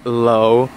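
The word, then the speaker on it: Lowla: If you guys don't remember her name is Lola, but I spell it with the W. So it's L-O-W-L-A. Get it? Lola.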